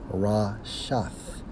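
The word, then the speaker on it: רֶשֶׁת: Okay, now, when we focus on net, okay, according to the Hebrew, it's Strong's H7568, pronounced as Rashath, which means what?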